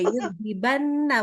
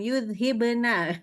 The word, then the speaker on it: يُذْهِبَنَّ: Cuman ini juga yudhibana, bukan yudhibna. Oke.